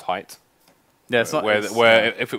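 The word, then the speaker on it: Hite: like Japanese no like Korean beer is is pronounced height yeah where where if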